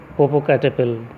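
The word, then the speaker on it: Popocatépetl: The black teeth of अ 97-year-old ग्रिमाल्किन living in a cave on mount पोपोकैटेपिल। ठीक है, पोपोकैटेपिल, T silent रहता है, पोपोकैटेपिल, पिटल नहीं बोलोगे, टी साइलेंट किया जाता है।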